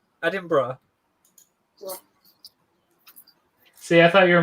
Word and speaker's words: Edinburgh: are excuses and then i thought for the longest time it was just the accent that made it sound like there's a little bit of a syllable after the berg part so less would it